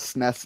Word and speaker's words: SNES: of sound a little weird when you actually pronounce it like S I mean a lot of people call it sness now but in the 90s I never heard